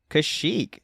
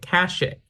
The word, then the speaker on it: Kashyyyk: Is it Kashyyyk or is it Kashyyyk? Oh, see, I say it's Kashyyyk. Like, is it Leia or Leah? Right, that's fair. Because how it's spelled is Kashyyyk. So it could go both pronunciations technically. But I mean, commonly it's Kashyyyk.